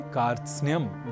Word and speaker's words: कार्त्स्न्य: इसलिए इस शब्द का उच्चारण हम सर्वथा शुद्ध करें, इसका हमें विशेष प्रयास करना है और इसे कारत सनय, कारत स्नेय आदि न कहकर हमें कहना है कार्त्स्न्य।